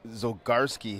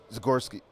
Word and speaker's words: Zagorski: So, he goes, "It's Zagorski." Wow. Wrong. Abs. I think that the Z is silent. No, it's not silent. He goes, "It's a combination of the Z and the G together."